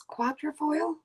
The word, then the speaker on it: quatrefoil: I always say it's quatrefoil. It looks like quarter, but it's spelled different because it's French.